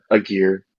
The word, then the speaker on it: Aguirre: my number six is aguirre or how do you say it a gear a gear i think yeah i think that's i like that pronunciation better than mine it was the first